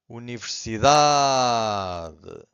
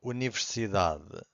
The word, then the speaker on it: universidade: And the rule number 1 says that usually the strongest syllable, it's the second to last. Every time this happens, the final syllable, the last one, it's very weak. It's not silent, but it's very weak. It's hard to hear.